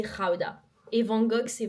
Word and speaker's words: Gouda: Ah et d'ailleurs, le Gouda ça se dit Gouda.